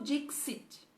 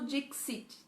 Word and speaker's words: dixit: Sicu dixit. Então, o X é xi, né? Sicu dixit.